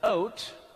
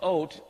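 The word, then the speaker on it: אות: The Hebrew word for signs here is ot. It's the aleph, the yud, or the aleph, vav, and the tav is how it's spelled. It's ot.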